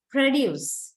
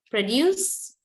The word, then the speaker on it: produce: When you say the noun, your first part of the word, where the first syllable, initial syllable is there, is much more heavier than the second part.